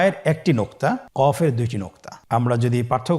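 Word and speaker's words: ق: কফের দুইটি নোক্তা।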